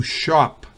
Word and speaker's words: shop: To shop. Fíjense que es la misma A de shock.